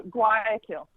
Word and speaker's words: Guayaquil: How do you pronounce Guayaquil, Ecuador? Oh, Guayaquil.